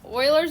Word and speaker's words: Euler: said oh I spelled it like oil again spell it like oil said get the E thisy all right Oiler method is a clever application of local